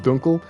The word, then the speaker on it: Dunkel: I'm pretty sure I'm pretty sure it's pronounced Dunkel. Dunkel means dark in German.